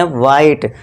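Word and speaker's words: white: क्योंकि यहां पे एच क्या है? साइलेंट है। और यहां भी व मत करना। ये वाला। व नहीं ये गलत हो जाएगा। क्यों? क्योंकि यहां एच है हमारा साइलेंट है।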